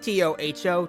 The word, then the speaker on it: Touhou: Also, should be said, it's spelled T-O-U-H-O-U in some ways, but it's actually just T-O-H-O, Toho Project, but Tohu, I mean, it flies